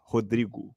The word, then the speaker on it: Rodrygo: ah Rodrigo and guys I'm saying Rodrigo but the way it's pronounced in portug Portuguese it's hodri that's how you pronounce it um Valencia fan saying